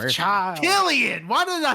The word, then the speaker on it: Cillian: Killian!